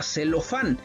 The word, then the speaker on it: celofán: es una palabra aguda lo mismo va a pasar en la palabra celofán la palabra celofán es una palabra aguda porque el acento tónico la tiene en la sílaba funk y luego entonces ahí está